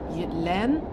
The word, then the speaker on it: Jylland: So I think it's actually pronounced Len and Fien, but I'm definitely struggling with the language.